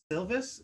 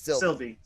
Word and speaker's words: Sylvie: We see C20 kind of getting fucked with in her mind by Lady Loki, who we learn goes by Sylvis. Is that how I pronounce it? Sylvie.